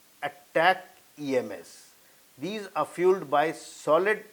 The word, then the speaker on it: ATACMS: cost about $1.5 million ATA CMS is pronounced as attack EMS these are fueled by